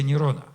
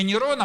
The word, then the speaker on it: Нерон: имел в виду кесаря Нерона. Вот если взять имя кесаря Нерона и его в еврейский алфавит перебросить, то получается сумма букв 666. Но имя Нейрона могли произносить по-разному: либо нейрон, либо Неро.